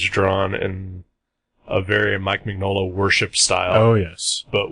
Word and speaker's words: Mignola: of Topps Comics Dracula Magnola style look. Like a lot of the way the characters are drawn. Because, or I guess it's actually pronounced Mignola.